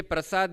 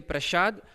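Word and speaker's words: प्रसाद: You always confuse say sha for this, like when we say prasad you say prashad, and for these two as same pronunciations do happen.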